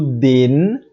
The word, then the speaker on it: den: a boca então dema e o denis a gente fala sem fechar a boca dele o jeito que